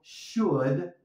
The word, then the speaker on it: should: Aquí tenemos el sonido should, would, porque la L nos la comemos y have no vamos a pronunciar la H, así que tenemos el sonido vocálico de la A.